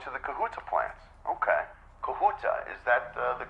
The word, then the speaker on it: Kahuta: ready it's going to the kahuta plants okay kahuta is that the correct pronunciation am I saying that right yes okay